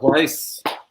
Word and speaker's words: Pleiss: Yeah, Pleiss. Rhymes with nice.